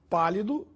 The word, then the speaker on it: pálido: pronúncia isso ocorre porque a palavra pálido tem a sílaba mais forte na antepenúltima sílaba P portanto é uma proparoxítona a palavra palito tem